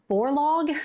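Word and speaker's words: Borlaug: It was developed by um a man's name that I'm probably going to butcher, Norman uh Borlo, I think is how you pronounce it.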